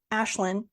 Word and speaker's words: Aisling: I wanted to make sure that it wasn't like Aisling, and it's an Irish name.